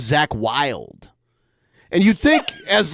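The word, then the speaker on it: Zakk Wylde: Like he calls Ozzy Osbourne's guitar player Zach Wade, but his name's Zach Wild.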